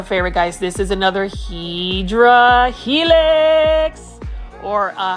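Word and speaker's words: Hedera helix: guys this is another hedra helix or a hadera helix I just like calling hedra Helix but the correct way to say it is hadera Helix which is basically an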